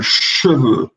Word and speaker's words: cheveux: Ele cai na pronunciação, ele não é muito escutado. Então, cheveux.